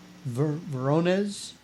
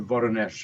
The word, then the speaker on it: Voronezh: It was in 1989, and it was the Voronezh incident.